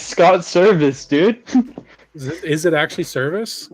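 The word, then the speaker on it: Servais: pronouncing it wait how do how do you pronounce uh the Mariners manager's name Scott survase what is it not that that's how everyone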